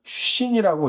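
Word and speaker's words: שין: 그래서 신은요, 신이라고 읽고, 하나는 쉰이라고 읽고, 나머지는 타오라고 읽습니다.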